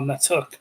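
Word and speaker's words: Na'Touk: Well, Natuk, pronounced not Took. N-A apostrophe Touk.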